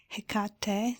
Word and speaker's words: Hecate: Now it starts with a H, Hecate, so the H is pronounced, and then it is the end of the word finish on the last syllable, no?